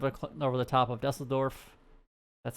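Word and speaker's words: Düsseldorf: pretty much right up over the top of dusseldorf that's how you actually pronounce it over cologne and then brussels there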